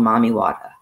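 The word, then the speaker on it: Mami Wata: to water is called mommy wada m-a-m-i-w-a-t-a wata like they spell it in jamaica water and she comes from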